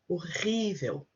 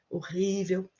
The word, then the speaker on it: horrível: In this case, obviously, we need to put the stress in the word here. Usually, horrível, reversível.